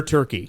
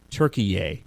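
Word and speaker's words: Türkiye: that we learn how countries want us to pronounce their name. Yes. It is no longer Turkey. Nope. No There's one an is A. supposed to call it Turkey anymore. It is now Turkey A.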